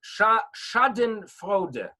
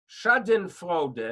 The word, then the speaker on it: Schadenfreude: There's a term of Schadenfreude. Schadenfreude.